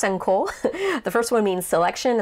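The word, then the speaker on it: 線香: senko there's a lot of kind of words pronounced senko with different kanji but anyway this is my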